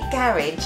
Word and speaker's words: garage: When I say garage, I don't. No. It's not a sexy word, is it? No, not garage. But no.